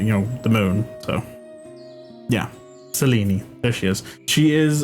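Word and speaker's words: Selene: Um, her name is uh Seleni. Um, it's spelled like it's Seline. That's like the American way to say it, but it's I went with the uh the modern Greek pronunciation, Seleni.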